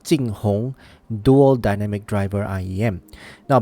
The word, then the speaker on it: JingHong: And the name of the IEM is called JingHong. JingHong.